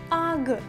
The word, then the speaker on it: UGG: Марка Ugi в оригіналі вимовляється навіть не як слово, а більше схоже на звук AG.